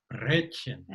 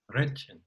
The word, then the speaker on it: Brötchen: So it's not a R, it's a R, Brötchen. Brötchen. Too long. Brötchen. Brötchen. Much better, much better.